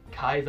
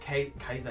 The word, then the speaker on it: Caesar: In the years 55 to 54 BC, Caesar himself, or Kaiser, I guess I should pronounce it, Kaiser, yeah, because the Romans pronounced it with a K.